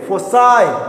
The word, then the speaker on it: foci: फोसाई, FOCI, pronunciation देखना, फोकाई नहीं, फोसाई, क्या है? फोसाई, FOCI, फोसाई।